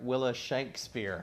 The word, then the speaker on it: Willa Shankspear: And we're going to get that pronunciation correct. Willa Shankspear.